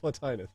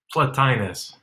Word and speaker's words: Plotinus: How do you pronounce Plotinus. it, Jason? Plotinus. Plotinus. Rhymes with Thomas Aquinas.